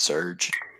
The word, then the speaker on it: Serge: enjoy it because it's Serge is that how you pronounce his name they say yep just surge surge protector surge talk you know